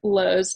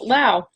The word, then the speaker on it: Lowe: in this presentation I pronounce Adrienne Lowe's name as Lao but it is definitely low you disclaimer these stories